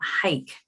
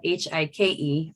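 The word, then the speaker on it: Huycke: state specialist named gail hike and she says pronounce it like football h-i-k-e although her name is spelled h-u-y-c-k-e but gail hike and uh gail was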